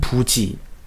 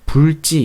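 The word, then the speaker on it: 不知: 인 부지 으 아니 불자를 제가 불지 라고 한다고 부지 라고 읽었는데 이번 이제 불자가 디그 시나 집과 쳤을 때는 발음을 부 라고 하는 그런 법칙이 있죠 아 물론 일어를 좀 보수적인 바람을 유지 하시는 분들은 불 찌 이렇게 읽기도 하시는데 그런 전통적인 것을 존중하는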